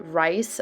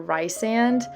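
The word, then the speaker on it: Rhysand: the audiobook version and in the first book she pronounces it recent but in all the books after that it's resand but i know a lot of people pronounce it rice or rye sand so please let me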